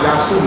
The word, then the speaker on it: Yahshua: His name is pronounced Yahshua Messiah.